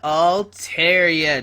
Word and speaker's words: Altaria: and today we are looking at a mega all Tera deck yep I said it right Mega alar